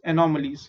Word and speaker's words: anomalies: And lastly, anomalies in sperms. How do you pronounce it? AN is an, O is O, N no O, MA is M, and LIES is lees. Anomalies.